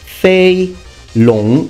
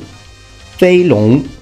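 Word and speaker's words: Fei Long: the series it's pronounced F long F long now please notice that the G is not pronounced f means flying long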